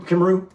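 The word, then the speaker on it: Cymru: okay how that looks how did we pronounce that you remember Kim Kim Kimu that's how we pronounce it but I don't I don't know if we have to look that up again guys I can't remember how you pronounce it yeah c y m r u our memory is not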